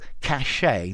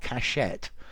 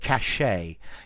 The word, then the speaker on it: cachet: a French word and this T at the end is silent yeah so cachet not cachet but cachet yeah um although you